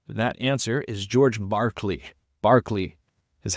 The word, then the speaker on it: Berkeley: Berkeley is how you pronounce it.